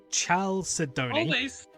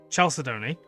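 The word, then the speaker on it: chalcedony: Of course, that'd be the one I can't pronounce. Chalidoni. Chelsea Sedoni.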